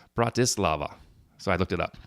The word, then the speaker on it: Bratislava: capital in your connection with word camp your pronunciation was almost right so yeah I probably called it Bratislava its Bratislava so I looked it up Bratislava brought Islam okay so a great question in